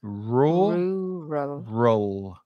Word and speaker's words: rural: Rural. The second vowel sound is the same as the second vowel sound in focus, and rural.